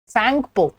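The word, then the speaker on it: Tsangpo: Brahmaputra is also called as सैंगपो, ठीक है। T silent होता है यहाँ पे, सैंगपो या ब्रह्मपुत्रा।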